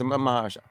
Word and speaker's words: Mahershala: All right, Marashala Ali. Okay, in MCU Vampire Adventure Blade. No, is it how do you spell it? Mahershala. Mahershala. That's it. It's Mahershala. Mahershala.